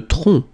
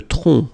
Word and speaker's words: tronc: Le tronc. Le tronc. Okay, remember, final C is not pronounced here. Le tronc.